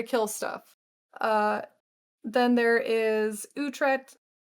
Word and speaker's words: Uhtred: Okay, so I know how to say this name because there is a TV show called The Lost Kingdom, and there is a dude in that whose name is Uhtred, son of Uhtred.